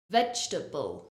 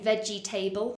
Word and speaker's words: vegetable: to comfortable is vegetable notice I don't say vegetable it's not for syllables it's only three vegetable vegetable we're not saying veggie table just like we don't